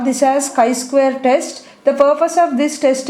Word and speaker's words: chi-square: going to discuss about chi-square test this is pronounced as chi we call this as chi-square test the purpose of this test is nothing but